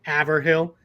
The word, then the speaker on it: Haverhill: It looks like it says Haverhill or Haverhill or Haverhill. It's Haverhill is how it's said in Massachusetts.